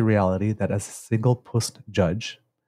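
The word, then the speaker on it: puisne: I am conscious of the reality that as a single Puist judge, and the Puist, I had to look it up because it's spelled P-U-I-S-N-E, and it basically just means judge of lower rank in the hierarchy.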